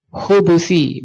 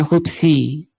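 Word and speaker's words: الخبث: tapi bermakna permohonan nah Al khabas bidomil ba berarti kalau di domomah bnya Bacanya apa berarti alkubusi ya Allahumma inini aubika Minal khubusi bukan khubsi di domah bnya kalau di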